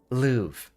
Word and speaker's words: Louvre: Louvre. Yeah, that was it. The R is silent because French is weird.